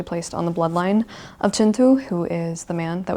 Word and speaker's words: Kintu: It looks like Kinu, but I promise you it is pronounced Chintu.